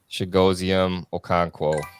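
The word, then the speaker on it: Chigoziem Okonkwo: i can't possibly take him i'm gonna take shigozium okonkwo that was impressive pronunciation there i've said it so many times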